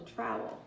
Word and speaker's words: trowel: Did you say that rhymes with towel? You're right. Trowel, towel, trowel, towel.